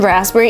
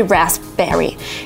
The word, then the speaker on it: raspberry: So P in raspberry is actually silent, so you can't say raspberry. You should say raspberry, raspberry. There is no P, it just goes away.